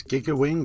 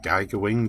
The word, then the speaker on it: Giga Wing: my new video this is giga wi or Gaga Wing depending on how you want to pronounce it on the Sega Dreamcast